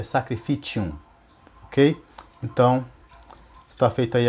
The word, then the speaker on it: sacrificium: E realmente vem do latim, porém eu pronunciei errado a palavra. Eu disse que é sacrificium, mas não é sacrificium. No latim, a pronúncia certa é sacrificium, ok?